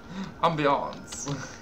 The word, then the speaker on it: ambiance: or ambience ambience and beyonce fancy people ambiance ambiance is how you pronounce it the atmosphere the atmosphere the atmosphere